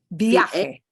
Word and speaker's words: viaje: viaje. Viaje. Viaje. Kind of hard to pronounce, isn't it? Yeah, viaje. Viaje. Viaje. It sounds just like the noun viaje, but here it's acting as a verb.